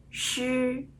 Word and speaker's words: 诗: 点一下，知、吃、诗，知、吃、诗。